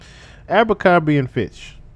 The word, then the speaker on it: Abercrombie and Fitch: How do you say just the goddamn word? Abercrombie and Fitch. Oh, I said it right. So Abercrombie and Fitch. Okay, I was just guessing and said this shit right.